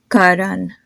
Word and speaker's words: Karan: you three more names Karan n and Rohit do you notice how my consonant just sound a whole lot softer so try to repeat after